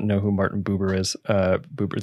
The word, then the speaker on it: Buber: Buber, that's how you pronounce his name.